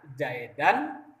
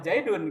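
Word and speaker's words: زيدًا: Maka kalau ada ka'anna Zaidan dibacanya ya, tidak boleh Zaidun gitu ya. Walaupun asalnya Zaidun gitu ya.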